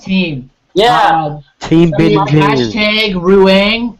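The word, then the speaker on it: Rueng: Team Big Hashtag Ruang. Was it Ruang? Room. How do you pronounce it? Rung? Hashtag Rung, R-U-E-N-G.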